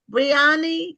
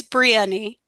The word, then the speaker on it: Brionni: Um, see, do you do you pronounce your name Briani? Is that how it's pronounced? It's Brieni.